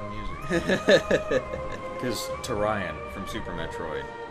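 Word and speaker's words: Tourian: just like music is to Ryan from Super Metroid right I don't have a they actually intend that to pronounce to Ryan I like it I've always called it Torian and that's yeah yeah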